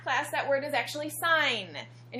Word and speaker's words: sin: you that word is sin but in math class that word is actually sign and you're supposed to pronounce it like sign So when you say